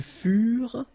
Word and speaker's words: furent: Ils furent, elles furent. Keep in mind that ENT, you know, the ending for the plural form is never pronounced, so furent.